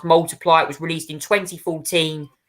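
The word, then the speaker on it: ×: his um album X um which was actually pronounced multiply it was released in 2014 uh one album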